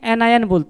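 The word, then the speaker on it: anion: और बेटा नेगेटिव वाले को क्या बोलते हैं एनायत हैं अरे बोल यार क्या बोलेंगे एनय बोलेंगे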